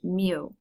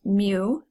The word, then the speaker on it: mu: mean the symbol for the population mean is pronounced mu it looks similar to a letter U that's